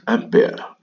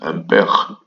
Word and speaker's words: ampere: Some love to pronounce this as ampere. It's a French word. It's pronounced as ampere.